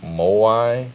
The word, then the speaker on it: moai: And there's like names you'll hear involved in the Blue Zones project, but one of them is a walking moai. Is that how you pronounce it?